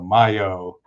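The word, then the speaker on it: Majo: So I think that's why he his professional name is M A Jo, but I think the J is pronounced as a Y. So Mayo is how he's known in Italy.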